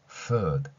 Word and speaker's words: food: 닫힌 소리가 아니라 풋 이게 아니라 food 이렇게 연결되는 소리다라는 거죠.